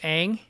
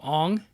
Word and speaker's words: Aang: Like in the show is Aang, and in the movie they're calling him Ong.